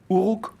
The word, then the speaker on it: Uruk: Vous racontez l'histoire de la première ville de l'humanité, donc Uruk, ça se prononce comme ça, et la ville du désir.